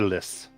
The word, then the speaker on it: Lys: So we changed it to Lys. good. That's the correct pronunciation.